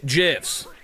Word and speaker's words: GIF: The guy who made GIFs said that it is pronounced GIF.